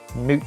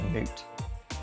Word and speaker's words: Moot: The old moot cider shoot, which I found out is pronounced moot cider, not mouth cider. Apparently in the brief it said rhymes with fruit. So moot if you didn't know that.